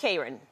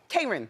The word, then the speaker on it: Kron: Am I saying it right, by the way, Kron? It's Kron. Kron.